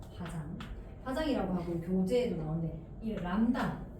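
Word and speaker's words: λ: 화장 파장이라고 하고 교재에도 나오네이 람다 람다라고 읽어요. 그리스의 문제예요.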